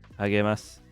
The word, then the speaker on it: あげます: Agemasu. They like to pronounce it almost like lasagna. Like it's like, I think it's like NGA. The G's are kind of weird.